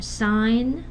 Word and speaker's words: sign: Okay, when you have an N at the end of a syllable or an M, nasal sounds, and then preceding G sound, somehow G is so shy, I guess. The nasal is so overpowering, the G disappears, right?